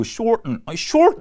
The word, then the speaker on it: shorten: shorten 이게 뭐야? 이렇게 됐는데 이건 알고 보면 shorten입니다. shorten. 그래서 이 shorten이라고 하는 이 ten 소리가 shorten 이렇게 발음돼요. 그래서 단추는 버튼이 아니고 button.